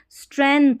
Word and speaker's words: strength: स्ट्रेंथ आपको याद करना है STREN, स्ट्रेंथ, और जी आपको याद रखना है दिमाग में, ठीक है, क्योंकि यहाँ पर पढ़ा तो ये जा रहा नहीं है, साइलेंट है। स्ट्रेंथ STRENGTH, जी को आपको